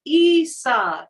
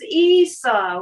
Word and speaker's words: Isa: I have this rune card pronounced Isa. This is Isa, which reminds me of Isha, which is Sadhguru's organization.